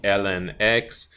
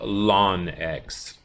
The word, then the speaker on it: ln: into just Ln X and it's pronounced exactly that way you just say Ln X some people like the